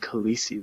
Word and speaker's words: Khaleesi: babies were named Khaleesi that year. That's ridiculous. That's how you pronounce it.